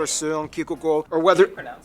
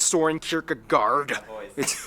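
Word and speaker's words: Søren Kierkegaard: hans christian andersen philosopher seung ki that's actually pronounced his name wow it's not soren kierkegaard whether it be the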